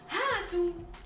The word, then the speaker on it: هاتوا: Note that the alif is not pronounced, you just write it but you don't read it.